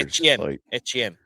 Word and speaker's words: Etienne: I was like, that's ETN. weird. ETN, that's right. Oh, that's right. They did. Which apparently we've been saying it wrong for the last however many years. Etienne.